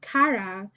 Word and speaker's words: Kara: Oh, it's pronounced Kara. Hi, thank you for correcting me, Kara.